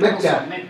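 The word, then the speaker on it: Mechta: Mecha. Lo pronuncié ahí en Mecha. Mecha. Mecha. Como una mechada, pero más corta.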